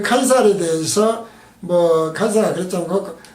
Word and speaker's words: 카이사르: 여기서 이제 시저에 대해서 좀 더 우리가 역사적으로 설명을 하면은, 시저라는 이름은 로마식 발음이에요. 그리고 그 그리스어로는 카이시로스예요. 카이시로스. 그리고 고전 라틴어 발음은 카이사르예요. 카이사르. 우리가 케자르 그러지 않습니까? 근데 우리말에는 카이사로 설명을 해놨어요.